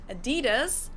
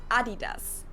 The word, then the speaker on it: Adidas: were referring to because they usually pronounce it Adidas, and in Germany we say Adidas.